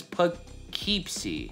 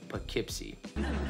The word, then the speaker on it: Poughkeepsie: Common popular pronunciation is Poughkeepsie. That sounds weird as hell. Prevailing local pronunciation, Poughkeepsie.